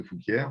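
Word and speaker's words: Fouquières: Je leur dis non, moi, mon nom, c'est de Fouquier parce que c'est comme ça que ça se rédige et non, c'est comme ça que ça se prononce.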